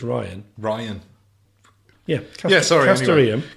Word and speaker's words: Rian: Rianne Johnson. What? I said Rihanna, didn't I? You said Rianne. I think I said it wrong earlier. I think it's Ryan.